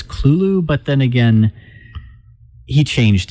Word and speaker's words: Cthulhu: anyone really know uh i think that generally lovecraft's scholars pronounce it as clulu but then again he